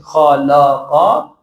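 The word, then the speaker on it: خَلَقَ: You have to say la. Khalaqa. Okay, this is perfect. So in the beginning, the pronunciation is a bit not very much usual to us. But the more we go, this pronunciation will be habitual to us. So while you are reciting, you will not say kha, la, qa. It will become something else. But since you are repeating it constantly, it will become eventually very easy to pronunciate.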